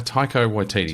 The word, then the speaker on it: Taika Waititi: How do you pronounce his name? Taika Waititi.